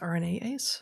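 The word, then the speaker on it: RNase: how to is that it's pronounced rna ace yeah yeah i just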